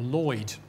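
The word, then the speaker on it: Lhuyd: work of the Welshman Edward huid or Lloyd I I don't think we know exactly how he pronounced his name it would be would be Lloyd now now to vastly simplify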